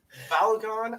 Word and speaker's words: Balogun: men's national team players playing abroad, you know, and since we do have an Arsenal loyalist, Balogun, I believe that's how you pronounce his name, right?